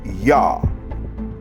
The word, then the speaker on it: Yah: The construct of these 4 letters is one that is common in modern Hebrew, where the yod is pronounced with the vowel ah, creating Yah. The name stands alone as Yah 45 times in the Tanakh.